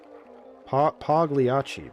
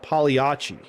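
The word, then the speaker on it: Pagliacci: Pagliachi. But you say piachi. I'm looking it up right now. Pronunciation. Oh no, I'm wrong. The G is silent.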